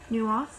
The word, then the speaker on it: Neuhof: So, with that in mind, he went to this farm in, I believe it is pronounced Neuhof, spelled Neuhof.